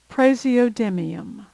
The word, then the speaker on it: praseodymium: This one looks tough, but it's really pronounced phonetically. Praseodymium, praseodymium.